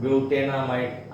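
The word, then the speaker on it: butanamide: और ब्यूटेन अमाइड आप इस तरह से प्रोनाउंस कर सकते हैं, ब्यूटेनामाइड।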